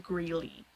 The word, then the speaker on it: Grelle: I know how to pronounce it, it's just I was pronouncing it Grell for a long time, so it's sort of hard to break that habit, but I was brought to attention that it's pronounced Greeley, so I'm gonna try